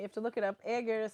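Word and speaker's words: Ægir: Aar is spelled AE G I R.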